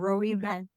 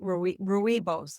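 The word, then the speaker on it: rooibos: Herbal teas, you know, like lemon balm and chamomile and ru. I don't know if I'm saying that right. Rui ruibos. I think is how they pronounce it.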